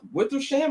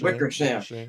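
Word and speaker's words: Wickersham: coming out from uh Wither Sham. I think that's how you pronounce my man's name. Wickers. Wickersam.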